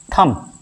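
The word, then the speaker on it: thumb: इसी तरह टी एच यू एम वी थंब नहीं थंब स्कूल नहीं यहां पे एच साइलेंट है।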